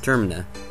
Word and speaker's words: Termina: insult anyone but um termina i'm pretty sure it's pronounced termina as in it's referring to terminate as terminate means to end as in what you